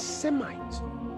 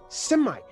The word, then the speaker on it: Semite: So when they passed it through the Greek, they lost the Shemite and it became Semite. They lost the SH sound by passing it through the Greek language and becoming Semite.